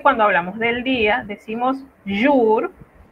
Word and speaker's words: jour: La J se pronuncia como Y. Es por eso que cuando hablamos del día decimos jour y no jour, ¿verdad?